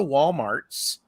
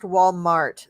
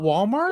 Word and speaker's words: Walmart: there but it's pronounced Walmart there's no s at the end so Walmarts it's not Walmarts it's not Walmarts no